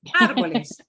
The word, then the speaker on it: árboles: It does not change the way the letter A sounds. What it means is you Los punch the syllable that A árboles. harder than the others.